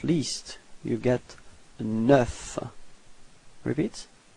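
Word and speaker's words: neuf: And last but not least, you get 9. Repeat. 9. Okay, so you pronounce the final F. Okay, and then E plus U gives you this E.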